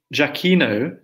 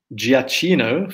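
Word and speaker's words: Gioacchino: given some advice right read Jackie no instead of giacchino for the right Italian pronunciation thank you very much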